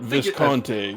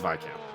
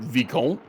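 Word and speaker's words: vicomte: con or vice count it's not visconte i i think it's i think it's vicam you would say that it's probably my camp but who knows i i've heard i think the the french pronounce it vecon uh which i have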